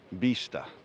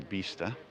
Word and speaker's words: vista: we are back it's vista there's a soft b there at the beginning bista and the i is spelt like an e or pronounced like an e so bista and if you get